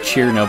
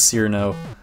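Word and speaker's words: Cirno: It's technically pronounced Chiruno, but everyone says Cyrano.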